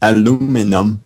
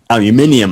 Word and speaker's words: aluminum: And for years, I could not say aluminum. I had to say aluminium. And of course, now I work in a metal shop, and so I'm using aluminum all the time. I had to learn how to say the word to work in this job. I kept on trying to say aluminium, and they always look at me funny. I had to retrain.